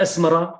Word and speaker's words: أسمرة: وعلى فكرة أسمرة كانت تكتب، وأنا أثني على أصحاب المدونة كتبوها أسمرة بالتاء المربوطة، وهي صحيحة ذاته، يعني حتى لما تنطقها ما بتنطق أسمرة، ما بتقول الألف الممدودة هذه، أسمرة التاء المربوطة، فمكتوب بهذا الشكل.